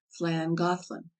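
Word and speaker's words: Llangollen: of the oldest towns on the D is pronounced flang gothan the Welsh LL being the equivalent of rthl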